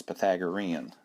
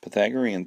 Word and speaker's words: Pythagorean: wasn't a math teacher didn't know how to pronounce Pythagorean so anyway that's how you pronounce it and if you remember the Pythagorean theorem means that we have a right triangle